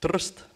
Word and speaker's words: Trst: The city of Trieste is pronounced Trst.